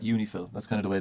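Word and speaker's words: UNIFIL: Lebanon right and then you pronounce that uni Phil that's kind of the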